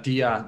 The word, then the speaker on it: Dia: Yeah, Dia, that's how we pronounce it here.